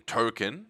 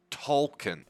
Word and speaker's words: Tolkien: their last name, with the main child being Token. Turns out his actual name is Tolkien.